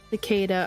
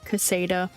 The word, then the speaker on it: cicada: I'm gonna say it wrong. Cicada. I always want to say Casada.